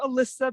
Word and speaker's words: Elisa: Elisa, and most people don't know how to pronounce my name. So I just like to tell them it's pronounced like Melissa without the M, but it's not spelled that way.